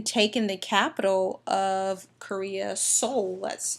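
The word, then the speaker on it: Seoul: the capital of korea's soul that's that word is pronounced soul we stop them before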